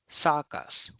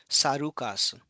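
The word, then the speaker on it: サーカス: So it's not sukasu. It will not be sarukas. It will be sakas. So I is replaced with just a long vowel which is represented by this dash sign.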